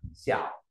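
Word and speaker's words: 小: Ta có từ tiểu là nhỏ đọc là xẻo. Ta nói xẻo.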